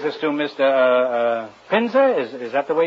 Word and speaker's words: Pinza: you call that old it brings this to Mr uh uh pinza is is that the way you pronounce it that is right it's your painter